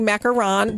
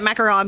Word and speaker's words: macaron: And so thanks for saying that, because it feels weird saying macaron, but that's how you say it.